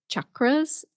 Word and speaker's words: chakra: So chak and then the retroflex R sound, r, chakra.